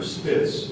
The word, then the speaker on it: spitz: The word is spitz.